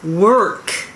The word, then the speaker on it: work: 今日は walk と work の発音の違いについて練習したいと思います。歩くの walk、walk と働くの work、work。発音違いますよね。日本語では歩くの方 walk、働くの方 work っていうふうに、カタカナでは表現されてますけど、歩く方は walk、walk、walk っていう感じですね。で、この